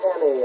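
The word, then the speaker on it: Emigh: And the center, big man on the court for the Soquel Knights, Dave Emmy, and he spells that name E-M-I-G-H, but pronounces it Emmy, a 6'6" junior.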